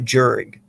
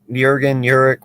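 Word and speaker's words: Jurgens: Uric could be, and by the way, it's not Jurig. The J is silent. That's why I'm saying Uric.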